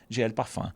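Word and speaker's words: GL Parfum: Só que tá escrito dessa forma, @glparfum. Quem pronuncia você sabe, né? GLPFAN. Então, @glparfan.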